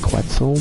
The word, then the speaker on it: Quetzal: of my friends about the Quetzal as he likes to call it but I call it quetzel because it's how it's spelled say you'll always start